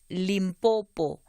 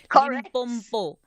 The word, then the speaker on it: Limpopo: But often you'll hear, particularly Nguni speakers, saying Limpopo. What is that also? Is that a function of this issue that we're discussing today? Exactly. In Nguni, we talk about impompo, like the tap. So suddenly you have Limpopo.